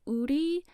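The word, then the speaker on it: OURII: fans specifically are called udy so it's like it's like our it's spelled o u r i i and so like that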